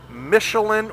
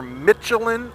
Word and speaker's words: Michelin: tires which are now I don't know if it's Michelin or melin I hear it pronounced both ways I hear it on TV pronounced Michelin but then everyone overseas calls it melin and it is a French company so I'm kind of leaning towards the overc pronunciation being correct but anyway they're Pilot